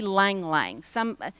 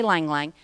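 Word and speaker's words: ylang-ylang: They say Lang Lang. I'm not sure how to pronounce it. It's Y-L-A-N-G, and I always thought you said the Y, but they say Lang Lang, and it smells heavenly.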